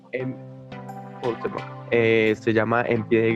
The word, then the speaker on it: Cuauhtémoc: Es uno del autor Carlos Cuauhtémoc, no estoy seguro si se pronuncia bien así. Sí, es Se eso. llama Cuauhtémoc. Cuauhtémoc.